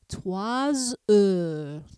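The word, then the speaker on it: trois heures: I do pronounce that S, and a single S sounds like the buzzing of a bee. So you would say 3 heures, 3 heures.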